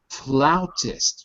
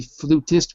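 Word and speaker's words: flautist: Floutist. Julia. Floutist. Floutist. For some reason with the word flute, it's irregular. And we don't say flutist, we say floutist.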